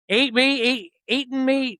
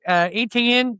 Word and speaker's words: Etienne: How do they say his name? Eating me? No, Etienne.